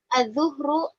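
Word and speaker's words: الظهر: Al-fajru, Al-fajru, al-zuhru, al-asru. Al-fajru, al-zuhru, al-asru. Ini karena sambungannya dengan waktu-waktu sholat, ini bacanya al-zuhru, bukan al-zuhru.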